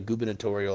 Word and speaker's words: gubernatorial: of a new governor it's called a gubernatorial election and i thought that was just people being silly with the word and actually that's how you say it so gubernatorial but